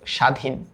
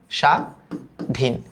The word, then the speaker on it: স্বাধীন: ত্বক, এটার উচ্চারণটা হইল ত্বক, সরি ত্বক, এটার উচ্চারণটা হইল স্বাধীন, স্বাধীন।